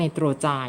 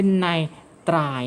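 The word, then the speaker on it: nitride: คือ ตัว นี้ ไนโตรเจน เรา จะ ไม่ อ่าน ว่า Nitro จ่าย นะ คะ เรา จะ อ่าน ว่า คุณ นาย ตรา ย นั่น เอง นั้น ไนโตรเจน จะ เปลี่ยน เสียง เป็น ใน ตรา ย นั่น เอง โอเค ไหม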